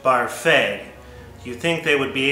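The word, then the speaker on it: Barfée: Barfy? Well, Mr. Barfy has a sea anemone circus in his basement. His other hobbies include Dungeons and Dragons and braiding his mother's back hair. It's pronounced Barfay.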